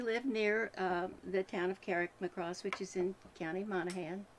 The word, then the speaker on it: Carrickmacross: So pronounce that for us. Carrickmacross.